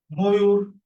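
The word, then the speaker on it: ময়ূর: অনু রোধ অনুরোধ এরপরে এখানে অন্তস্থ দীর্ঘকার আছে ম এর সাথে আমরা জানি অ আছে কিন্তু এর উচ্চারণটা কিসের মত হবে ও এর মত হবে কারণ এখানে দীর্ঘকার আছে তাহলে হবে কি ময়ুর ময়ুর ভেরি গুড এই ধন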